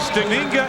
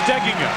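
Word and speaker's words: Steigenga: sound anywhere near us the accent on the pronunciation that most people use is on the second syllable but Matt says it should be on the first syllable fine player for Judd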